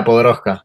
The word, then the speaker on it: Podoroska: Is that how you pronounce it? Right. Yeah, Nadia Podoroska.